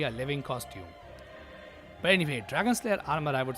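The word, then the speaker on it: Dragonslayer Armour: I know that I mispronounced this guy's name quite often in my playthrough because I thought its name was Armorer. But nope, it's Dragon Slayer armor, which makes sense considering this is literally a living costume.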